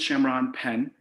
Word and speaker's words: Shamron Penn: during this unprecedented time my name is shamron penn pronounced shamron pen i am the author